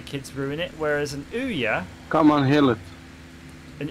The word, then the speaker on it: Ouya: Andrew Beer, sorry, in the chat saying he's going to play with his Ouya.